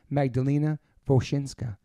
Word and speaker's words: Magdalena Wosinska: Please welcome to the podcast, Magdalena Wosinska.